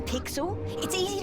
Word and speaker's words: Pixel: have boy your guy I'm pixel remember because it rhymes with pickle this is it I'm